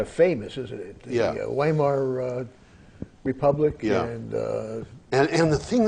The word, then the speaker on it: Weimar: Well, that republic, Weimar, by the way, W is pronounced like a V.